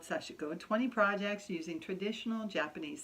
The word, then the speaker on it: sashiko: am anyhow sashiko sashiko you don't actually pronounce the I in in the Japanese I believe it's sashiko sashiko and anyways all right